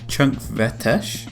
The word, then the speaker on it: Chunkvellir: I asked around a bit, and it seems like Vellir is one of those words that changes how it's said depending on where it is in the sentence, so the correct pronunciation is something along the lines of Chunkvellir.